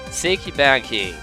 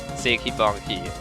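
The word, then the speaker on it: Sekibanki: the mid boss again her name is siki banki or siki Banky if you want to go by German pronunciation know it still is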